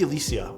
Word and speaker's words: Alyssia: It's called the Alicia. I hope that I'm pronouncing it right, by the way.